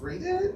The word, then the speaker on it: Reddit: robot I seen robot I feel like it should be pronounced read it yeah Okay so here's